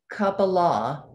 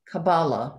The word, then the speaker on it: Kabbalah: it says saying in kappa law kabbalah two different ways to pronounce it jewish mysticism that